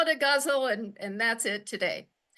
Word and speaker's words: ghazal: But in English and according to the poetry foundation and several other authors that I read, it rhymes with muzzle.